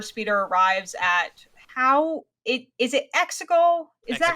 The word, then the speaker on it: Exegol: With Lando's recruitment, the Star Speeder arrives at is it Exegol? Is that how it's pronounced? Yeah. Exegol.